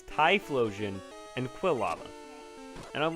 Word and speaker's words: Typhlosion: quill apparently is correct but Quinta lava and try Splosion isn't it's Typhlosion and quill AMA and I'm like what because